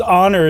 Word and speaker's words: honor: it's historic right whereas honor it's like the it starts with an O like the H is silent almost right like you're from